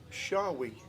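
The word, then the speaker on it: Shawee: And you pronounce his surname Shawi. Shawi. As in S-H-A-W-E-E. H-A-W-E. Shawi. Shawi. Shawi.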